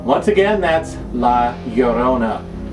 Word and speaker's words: La Llorona: La Llorona is Spanish. Now that's spelled La, obviously L-A, and then Llorona is spelled L-L-O-R-O-N-A. That's L-L-O-R-O-N-A, Llorona.